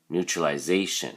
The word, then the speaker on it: neutralization: something usual is neutralization neutralization so there's actually because it's so long there's a stress on the first syllable new and then a so